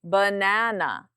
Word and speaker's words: banana: Banana, louder and longer. Na is the stressed syllable. Ba and are the unstressed.